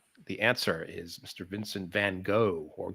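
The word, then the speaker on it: Van Gogh: answer is Mr Vincent Van go or Goff as they pronounce it in Doctor Who Mr Mr handcuff all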